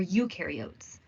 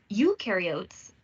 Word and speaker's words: eukaryotes: Eukaryotes, the U rhymes with do, they do have membrane-bound organelles.